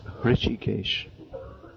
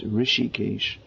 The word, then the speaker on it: Rishikesh: early start here now often devotees they mispronounce this as rishikesh and some people say that the name has derived from the name of the supreme lord harishikesh beginning with an h actually the name is rishikesh rishi meaning a great